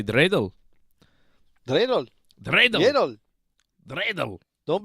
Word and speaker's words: dreidel: Yedel, yedel, yedel. Dreidel.